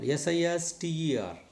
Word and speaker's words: sister: SISTER. Yes, sis. First syllable. T. Second syllable. Ending in R. That R is silent. Therefore, it is stress should be on first syllable.